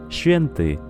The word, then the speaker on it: święty: Ejemplo, la palabra święty, santo, incluye el sonido sh, que es más suave que una S común.